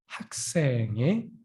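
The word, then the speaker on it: 학생: can say student is huxing right so but with the pronunciation how you can say hakseng all right until here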